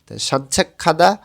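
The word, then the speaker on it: 산책하다: সাঞ্ছা খাদা হাঁটাহাঁটি করা গেছে পরে যখন হিউত আসে তখন তখন গটা হিউতের স্থানে গিয়ে খ এর মতন উচ্চারণ হবে সাঞ্চাখাদা হাঁটাহাঁটি করা শিয়াহাদা গোসল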